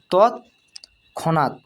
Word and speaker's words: তৎক্ষণাৎ: তৎক্ষণাৎ, এখানে দেখো ডবল খণ্ডিত আছে, তাই এখানে উচ্চারণ করছি আমরা তৎক্ষণাৎ তৎক্ষণাৎ।